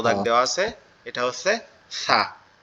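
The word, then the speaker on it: ث: আর যেটা কালো দাগ দেওয়া আছে এটা হচ্ছে সা। তা এখন এই নিচের তিনটা হরফের আমরা উচ্চারণটা একটু খেয়াল করি।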